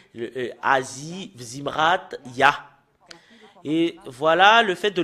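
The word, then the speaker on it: יה: Et nous voyons très bien que le fait de prononcer le Yod et le He, c'est Ya. Voilà.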